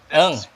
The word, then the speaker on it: Ng: Uh, uh, my surname is pronounced a few different ways, especially in the Philippines. They say Nang. I'm used to it by now. I've been there for Okay. the Philippines whatever time. So How that? Well, what do you prefer? but Ng. there's no vowel, so physically, it's linguistically quite impossible for a lot of people. Okay.